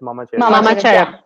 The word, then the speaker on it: MamaCheru: joining us from Assam and uh their brand mama uh cherub am I pronouncing is right it's Mama Cher M Mama Cher it's it's a brand also